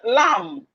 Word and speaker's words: lamb: Then we have the lamb. Lamb. The bean lamb is silent.